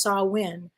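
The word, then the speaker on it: Samhain: Celtic Festival called called saw win if I'm pronouncing it incorrectly let me know it's spelled s-a-m-h-a-i-n but it's pronounced saw win and the Celts lived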